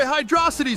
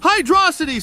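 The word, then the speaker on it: Hydrocity: being a dumbass nck just because the two words happen to be combined doesn't mean they aren't the same pronunciation we wouldn't call Green Hill Zone Greeno if there wasn't a space hey I'm not being dumb hydrosity sounds way better than Hydro City yeahuh stop it stop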